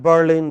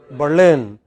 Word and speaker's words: Berlin: of spain okay so in english it is pronounced not as madrid but as madrid not at berlin but berlin not at brazil but brazil very erratic you know look